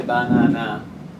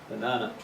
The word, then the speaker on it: banana: common as water banana we don't say banana unless we're a robot or a silly answering machine the strong syllable is the second one b banana the first and the